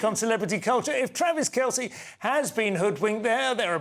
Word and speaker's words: Kelce: The pop superstar's other half is NFL player Travis Kelce. I hope I'm pronouncing that correctly. Kelce, OK, thank you.